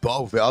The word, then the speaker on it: Beauvillier: Oh, Beauville.